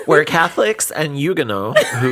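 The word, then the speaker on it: Huguenots: I mean, okay, it's French, so you're right. You would not pronounce the H.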